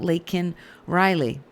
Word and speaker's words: Laken: She's talking about Laken Riley. But if you're Joe Biden, you call her Lincoln Riley.